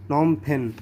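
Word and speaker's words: Phnom Penh: इसे हम प्रोनाउंस करते हैं नॉम-फेन। इसे हम कैसे बोलेंगे, नॉम-फेन।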